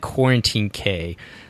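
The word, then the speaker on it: Cuarantine Cay: and we're calling that Quarantine Cay. So it's spelled CUARANTINECAY 5K.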